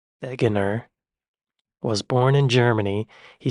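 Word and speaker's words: Wegener: name right probably not Alfred Wagner pronounced veganer was born in Germany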